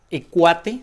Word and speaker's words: Equate: rastrillo de la marca y cuate si se pronuncia viene cuate así es así está escrito y bueno pues eso